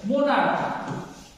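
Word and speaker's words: monarch: যে সিএইচ, এই সিএইচ কি, এই সিএইচ সাউন্ড লাইক কে, অর্থাৎ চটা কয়ের মতো উচ্চারণ করবে, ঠিক আছে। মোনার্ক, কি মোনার্ক শব্দ, তাই তো।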